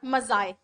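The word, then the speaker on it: maize: अगला है मेज और मजाए।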